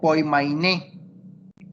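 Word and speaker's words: ποίμαινε: Esa palabra, pastorea, en esa traducción, que es del griego, se pronuncia poimainé.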